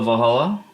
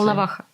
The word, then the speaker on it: Volnovakha: So we went to Valhalla, to the hospital. Is that how you say it? Volnovakha.